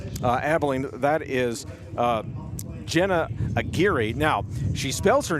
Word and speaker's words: Aguirre: That is uh Jenna Aguirre. Now, she spells her name A G U I R R E.